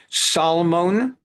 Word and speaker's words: Salmon: Salmon, not pronounced salmon like in English. Salomon, El Melik, and Poni Aloney.